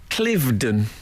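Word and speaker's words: Cliveden: the weekend um oh I was invited um clivden I do you know and and you did the pronunciation correctly yeah well you got you got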